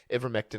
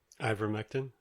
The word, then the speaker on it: ivermectin: if ivor ever ivermectin ever mektin i can't how do you pronounce that how do you say that kev ivermectin ivermectin okay i always want to say ever anyway ivormectin to treat